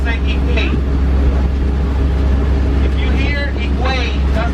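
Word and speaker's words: Higüey: And the city from this province, we spell it H-I-G-U-E-Y. We don't pronounce the H, we pronounce it Higuey.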